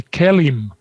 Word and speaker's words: KELIM: The KELIM is how we pronounce that. KELIM, right. KELIM.